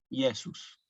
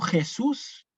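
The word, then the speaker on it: Iesus: ustedes en algunos misales puede aparecer acá a veces una j Sí bueno esta J en realidad fíjense que yo no la puse sino que yo puse directamente una ahí tiene que sonar como una yesus no Jesús y no Jesús sino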